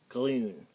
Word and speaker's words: grün: And then in the umlaut U is not the easiest thing to pronounce. It's like more of a U sound, but the way to pronounce it is that you say E. Act like you're saying E, then pucker your lips.